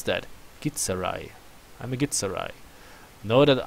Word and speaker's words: Githzerai: Know that I am a how do you pronounce that? Githzerai.